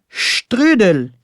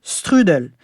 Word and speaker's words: strudel: Et cette délicieuse pâtisserie autrichienne parfumée à la cannelle, on dit le strudel et non strudel. Mais Stéphano, je me demande, comment est-ce qu'on prononcerait poutine en Italie?